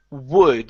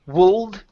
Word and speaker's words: would: Next one here is would. Instead of wold, the L is silent. We don't pronounce that.